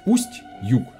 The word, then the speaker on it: Устюг: Grâce à la rivière Yug, le nom de la ville est apparu , Ustye la rivière Yug, c'est-à-dire Ust-Yug, prononcé Ustyug pour plus de commodité.